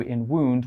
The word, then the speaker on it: wound: how we pronounce it we pronounce the o u in wound with an oo sound we don't say wound wound is also a